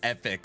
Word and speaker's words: Epoch: Epoch is pronounced epic.